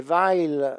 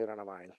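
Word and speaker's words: Weyl: and the right my V okay so if I said V before I didn't say it correctly the vacuum a prior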